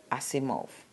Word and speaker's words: Asimov: not know not any it was going to pronounce Isaac not exact or something like that Isaac I see move thank you